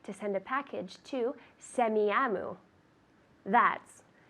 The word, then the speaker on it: Semiahmoo: I'd like to send a package to Semiahmoo. That's SEMIAHMOO.